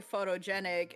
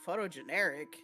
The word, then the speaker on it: photogenic: He's basically getting the word wrong because it's like, yes, he's trying to say photogenic and then the dude's like photogeneric.